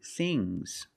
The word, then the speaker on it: things: One thing, two things. So NG plus S, it's a soft G.